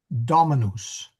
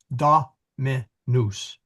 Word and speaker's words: Dominus: Now, getting back to the Emilia, the correct pronunciation of master is Dominus. Dominus. And the accent is on the da.